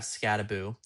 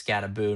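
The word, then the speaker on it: Skattebo: And it's Scataboo, not Scatabo, which is weird to me because that's that's how it's spelled. Like Halloween. Yep. Exactly. Like Halloween.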